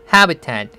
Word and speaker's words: habitat: habitat 해에 스트레스가 있죠.